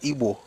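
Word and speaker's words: Igbo: Even then your people will call it IO but they will write it like the British as IBO but the pronunciation is Ebo.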